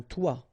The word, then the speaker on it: toit: Okay, and then both of them are pronounced like toi. Un toit, toi.